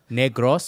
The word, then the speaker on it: Negros: say it it truly is how you say Negros oent one more time Bobby Negros Negros Negros